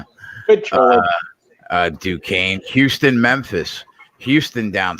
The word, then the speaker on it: Duquesne: Pronounce it right. Good try. Duquesne.